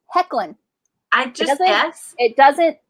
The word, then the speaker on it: Hoechlin: Tyler Hoechlin is also in that because he plays what is it?